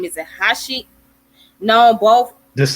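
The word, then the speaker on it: Haisch: And it says in 2006, German physicist Bernard, I cannot pronounce his last name. Is it Hashi? Known both. Just say Heish.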